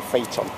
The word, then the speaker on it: Phaeton: even pronounce the word most people can't even pronounce the word faton most illiterate people are mean anyway that's what it is a faton look at that now some people buy cars